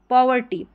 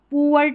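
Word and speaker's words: poverty: Repeat होता है पॉवर्टी पॉवर्टी इसको पुअ करके नहीं पढ़ेंगे पी ओ को पढ़ेंगे पॉवर्टी हो गया गरीबी।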